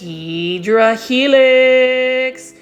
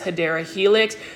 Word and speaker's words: Hedera helix: I should get this Hydra Helix or Gold Baby English Ivy. The correct way to say it is Hedera Helix.